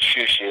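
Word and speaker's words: Xiu Xiu: So, I think bands like Joy Division, and my favorite band is this band Shoo Shoo, it's spelled Xiu.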